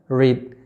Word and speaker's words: read: Verb 1, verb 2, verb 3-nya sama, tulisannya sama, tapi pengucapannya berbeda. Jadi yaitu katanya adalah read atau membaca.